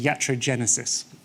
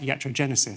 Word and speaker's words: iatrogenesis: Pronounced iatrogenesis.